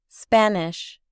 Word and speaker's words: Spanish: Observe que sh se pronuncia como una ch suave. Spanish.